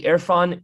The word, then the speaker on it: Irfan: as a contributor to their fund colloquium the irfan colloquium is an amazing resource it's spelled i r f a n irfan colloquium